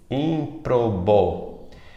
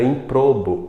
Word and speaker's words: ímprobo: ímprobo e ímprobo ímprobo essa palavra que também sempre é proparoxítona tem um erro de prosódia nós costumamos falar de forma errada ímprobo ímprobo pronunciando como paroxítona quando na verdade ela sempre vai ser uma proparoxítona Outro exemplo é a